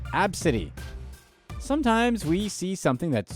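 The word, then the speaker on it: Abcde: laughed 5-year-old passenger's name Absidy, spelled A-B-C-D-E, within earshot of the girl and her outraged mother. This happened in Orange County, California in November 2018 when the employee noticed the young passenger's unique name pronounced Absidy.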